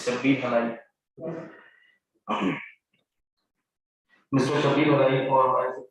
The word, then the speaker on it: Shabbir Halai: Sorry for the mispronunciation, sir. It's Shabbir Halai.